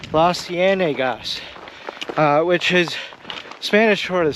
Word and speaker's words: Las Cienegas: Las Cienegas. Las Cienegas, which is Spanish for the swamps, and you